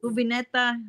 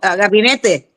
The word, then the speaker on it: gabinete: cubineta, or how do you say cabineta? Mm. Camioneta? No, like the What? cupboards. Oh, gabinete.